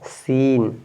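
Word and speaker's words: scene: गया तो आप पढ़ेंगे क्या है सीन इसमें सी साइलेंट हो गया तो आप पढ़ेंगे सीजर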